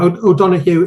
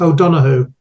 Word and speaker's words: O'Donoghue: O'Donoghue is an accepted pronunciation. I go with O'Donoghue.